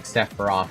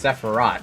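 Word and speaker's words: Sephirah: So, it is it is like saying Sepharoth, but it's Sepharat.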